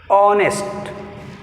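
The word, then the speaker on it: honest: ఆనెస్ట్ which is silent, H is silent in ఆనెస్ట్.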